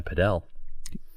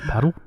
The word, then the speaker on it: padel: You can go and play padel. Padel. Emphasize the L. Paddle? Well, padel.